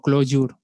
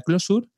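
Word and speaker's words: Clojure: voy a decir bien siempre digo close your porque se escribe de esa manera y así se leen y hay algún curioso que quiere buscarlo pues será más fácil pero se pronuncia closure y para el desarrollo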